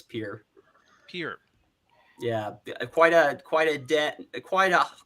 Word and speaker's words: Pierre: It's like it's spelled Pierre, but it's Pierre.